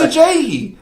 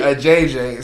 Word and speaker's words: Ajayi: And I was like, it's Ajayi. I said it right. And I come over here and say a JJ.